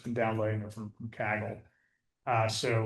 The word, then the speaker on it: Kaggle: myself just to kind of experiment I've just been downloading it from from Kaggle.